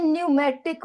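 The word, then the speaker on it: pneumatic: There for the bonus of birds are light in wait इनको हम कहते हैं न्यूमेटिक बोनस है ना अगर आपको पता है तब भी ठीक है नहीं पता तो कहीं लिख लो पी साइलेंट है न्यूमेटिक बोनस होलो बोनस जो एयर पॉकेट्स के साथ अटैच्ड है।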